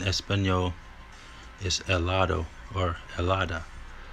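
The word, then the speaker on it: helado: cream in Spanish is elada or you could be saying hellada but it's the H is silent really so when people are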